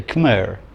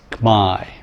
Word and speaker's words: Khmer: they want to say khmer or khmer khmer khmer that's not it in the language in cambodia it's my and that's just that's